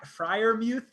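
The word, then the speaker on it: Freiermuth: No one comes close to Kyle Pitts, but Pat Fryermuth, I don't know if I definitely didn't pronounce that right. Muth. Fryermuth. Muth. Yeah. Fryermuth.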